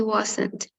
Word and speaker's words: wasn't: Mientras que wasn't, sí, tiene dos sílabas.